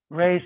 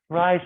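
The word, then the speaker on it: Reye's: of a condition called rey's syndrome or rise syndrome depending upon how you pronounce it so um so if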